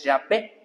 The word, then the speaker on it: Yahweh: Y más o menos ellos lo pronuncian más o menos como un Yahweh. Ellos lo pronuncian así. Ahora, otra forma también como se dice es Jehová o Yahvé.